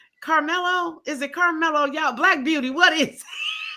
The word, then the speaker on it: Carmelo: Oh, you pronounce it like the basketball player. Carmelo Anthony. Okay. Carmelo.